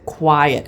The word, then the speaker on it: quiet: So in the word quiet, is the word quiet or is it quiet? Well, it's very clear that it's quiet and that the accent is on the first syllable.